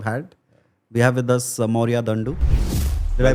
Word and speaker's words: Mourya Dandu: We have with us Mourya Dandu. Did I pronounce that right? Yeah, that's pretty good. Yeah. Like the and the da. Yeah. Mourya Dandu. Yeah. Mourya Dandu, photographer par excellence.